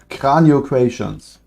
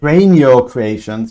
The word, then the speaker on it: Cranio Creations: Cranio Creations. Can you not pronounce it that so German way? Cranio Creations, better.